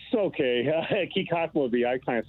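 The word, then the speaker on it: Kykotsmovi: Lance in Kikots Movi Village. Where is this? And I'm sure I'm saying that wrong, Lance. No, it's okay. Kikatmovi, I kind of say it wrong too myself.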